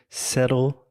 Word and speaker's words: settle: about that no okay just one quick pronunciation note settle down normally I do not say settle settle Seto it's kind of that stop tea actually a flappy settle settle settle down so